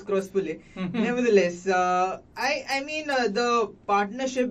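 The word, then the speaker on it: Croospulle: name, because being me, I mispronounced his name in my first game, and then it was Dhanush who told me it is Crosspule.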